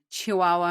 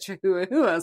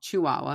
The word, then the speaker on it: Chihuahua: Because I have dumb friends that pronounce it chooa.